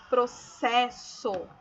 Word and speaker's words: processo: Para que a letra S entre vogais fique com o seu fonema, ou seja, o seu som, é preciso usar dois S. Então, o que quer dizer isso? Que esta palavra aqui, ó, processo, os dois S, ele tem o fonema do S mesmo, né?